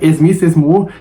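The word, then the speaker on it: Esmiss Esmoor: Eles começam a entoar o nome dela com a pronúncia local, né? Esmiss que seria Miss More, né?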